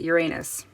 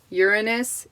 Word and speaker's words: Uranus: most people pronounce it uranus put the emphasis on the wrong syllable um apparently i just looked this up before this video and uranus is how um astrology